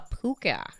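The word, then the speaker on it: Púca: The Puca. Is that pronounced correctly?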